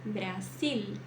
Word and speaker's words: Brasil: A língua vai lá em cima, tá? Brasil. Nada de dizer Brasil, tá? Tem que pronunciar corretamente. Brasil. Ó, sil. L. Lá em cima ali.